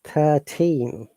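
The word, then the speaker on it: thirteen: 13 yeah we're stressing on the team remember all the team words or thin numbers we stress on the second syllable 13.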